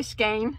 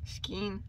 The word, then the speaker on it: skein: the name's perfect um even though some say skein i think skeen tone sounds better but anyways either no matter